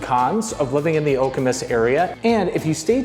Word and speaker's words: Okemos: the area and all you keep seeing is okus okus okus which is how you pronounce that city name by the way and